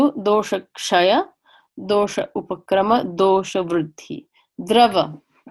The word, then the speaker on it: dosha: dosha again this is if I were to take that dot away it would be do sa and you would think it's that creep that you can order at a South Indian restaurant and dosa but it is door shut with the retroflex ask door shut these are the humors